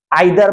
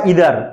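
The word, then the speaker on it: either: তারপরে each every on no enough আইদার বা ইদার নাইদার বা নিদার দুইটাই সঠিক উচ্চারণ ওয়ান টু এরকমভাবে যতই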